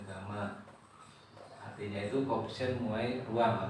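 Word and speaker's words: gamma: e kali Delta nah ini dibacanya GMA ya di bacanya Gama artinya itu koefisien muai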